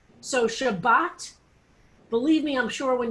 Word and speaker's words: Shabbos: eastern european jews pronounced if there's no dot in the top it's a sound so shabbos or shabbat depending on whether and